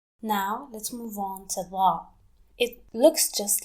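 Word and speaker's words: ظ: Now let's move on to Da. It looks just like Da but has a dot on top, and it sounds like the, but it's much deeper.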